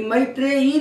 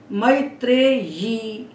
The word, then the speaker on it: मैत्रेयी: ये मैत्रेयी नहीं है, मैत्रेयी नहीं है, मैत्रेयी। तो या और वा इनके उच्चारण में हमें बहुत सावधानी रखना है कि जैसा लिखा है वैसा ही अब इसको बोले।